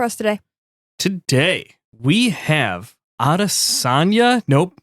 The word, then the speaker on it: Adesanya: Today, we have Adesanya.